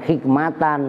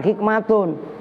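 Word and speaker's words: حكمةٌ: ada taknya juga ha hak kan bacanya bukan hikmatan makanya lu makanya jangan ngomong gue mau cocokin nih gu gua kasih tahu sama El pada ini kan Uji Nyali itu yang benar bukan hikmatan hikmatun yang benar adalah hukmuhu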